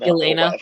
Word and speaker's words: Yelena: Yelena.